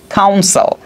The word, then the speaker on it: council: কাউন্সিল, এটাও কি কাউন্সিল, দুইটার উচ্চারণ কিন্তু সেম, কাউন্সিল কাউন্সিল।